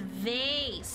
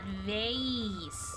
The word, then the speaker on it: vase: A wonderful item is pronounced vase, not vase.